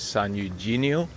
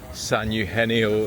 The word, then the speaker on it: San Eugenio: Some people pronounce it as San Eugenio, but the G is a silent G. It's more of a H sound. So, San Eugenio is how it's pronounced